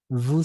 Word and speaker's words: vous: Porque en este caso solo la palabra vous se dice vous nada más, no se pronuncia la S, vous.